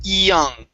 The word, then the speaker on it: young: y saying okay so when you have a y at the beginning of words in english start off with an e sound okay you want to say young young yeah okay one